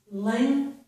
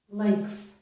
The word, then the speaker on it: length: With these two words, I pronounced this G, letter G in here, as a K, almost as a K sound. So this is length, length, length. And this one is strength, strength. So the K is there for the G. So K, TH. Not all people pronounce the K in these two words, but many people do,